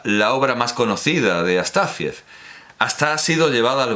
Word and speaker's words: Astáfiev: los franceses no podríamos leer a Astafiev. Astafiev, perdón, me ha salido la pronunciación francesa.